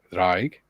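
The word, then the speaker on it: draig: um julan says the the Welsh drag pronounced drag for Dragon apparently may be from the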